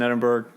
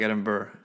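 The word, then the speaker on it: Edinburgh: four years in Edinburg do you keep throwing the G in there yeah like Burger yeah but it's yeah you know remember it's almost like you put the r early in syllable edin oh like you're cold like edin Burr yeah okay bur yeah I'll take that like Aaron Burr cuz I think like Hamburg you know the strong Burger G all right so back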